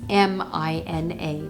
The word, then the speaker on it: Mina: this is by nina it looks like 3 i n a but it's m i n a mina is how it's pronounced and i think this